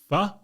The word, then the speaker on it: pho: Pho? Pho? Pho? Pho? P-H-O, pronounced pho.